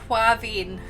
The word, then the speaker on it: Quavein: Quavein. Quavein. Vein as in like your like veins in a.